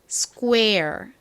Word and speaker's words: square: 됩니다 그리고는 a 소리가 나죠 연결해보면 스를 빨리한 발음 스 스이 됩니다 요거 한번 좀 따라해 볼게요 정사각형 광장 square 한 번 더스 좋습니다 한국식으로는 보통 스퀘어라고 쓰죠